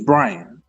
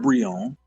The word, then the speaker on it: Brian: name and said Bri, I could say no, it's Brian. That's my name. My name is not Bion. My name is Brian.